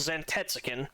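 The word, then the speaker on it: Zantetsuken: So, this ability is called Zantets. I know that's how you pronounce that one.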